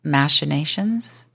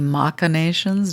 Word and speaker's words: machinations: can never actually know the machinations or the macktion depending on how you want to pronounce that of someone's inner landscape